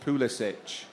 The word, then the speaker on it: Pulisic: It's going to be great that Modric's first words to Pulisic will be, it's pronounced Pulisic.